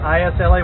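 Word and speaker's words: Islay: the northern part of Scotland this is Iowa is La why they call us they pronounce it Isla Island I love Hitler and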